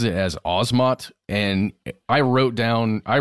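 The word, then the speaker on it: Asmat: in search of episode Leonard Nimoy he he pronounces it as osmot and I wrote down I wrote down the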